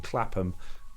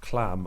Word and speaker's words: Clapham: like to admit where they lived and would mispronounce them. Clapham, Clam, or Streatham, St.